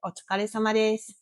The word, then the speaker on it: Otsukaresama desu: Pronunciation tip, smooth it. Don't break it into syllables. Otsukaresama desu. One word. Try tomorrow. Walk past a Japanese co-worker, say, "Otsukaresama desu."